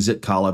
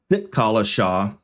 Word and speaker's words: Zitkala-Ša: Mark zit Calla sit I keep saying zit Cala because it starts with a z sitca Shaw which is the actual pronunciation is down at the